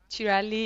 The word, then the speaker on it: Cirelli: I am Chelli Chelli is the correct pronunciation of my surname I guess yes that's